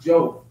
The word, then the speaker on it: Diouf: Servants of Allah by Sylviane Joe. Her name is spelled Diouf.